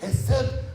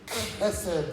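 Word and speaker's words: חסד: So I'm not supposed to say Hesed, I'm supposed to say Hesed.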